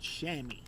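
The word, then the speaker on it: chamois: word right here is called shammy kind of like s mm y that's how that's pronounced now it says here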